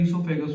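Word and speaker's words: oesophagus: लिखा जाता है ओइसोफेगस, पर वो साइलेंट होता है, इसोफेगस होता है, ठीक है।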